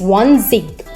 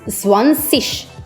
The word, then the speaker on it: zwanzig: That means sh sound, not g sound.